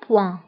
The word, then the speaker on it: point: نقطة هي un point, un point. فانتبهوا بالنسبة البوان كنكتبوها دائما بالتي في آخر الكلمة، ولكن هذه التي لا تنطق، تنقولوا un point.